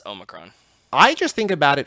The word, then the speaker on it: Omicron: The Pat McAfee show calls it Omnicron. It's Omicron. I just think about it from, it's the Futurama thing. Like, I just know that word from Omicron Persei I-8, which is the planet that Morbo's from.